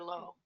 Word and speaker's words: Lou: Low. Dr. Lou or Low, depending on how you pronounce it. Spelled Lou, but pronounced low.